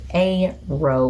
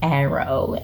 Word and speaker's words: aro: I will also be referring to aromantic as aro, which is the shortened version of aromantic. Sidebar. For about 6 months, I want to say in 2015, sometime around then, I was pronouncing it as arrow.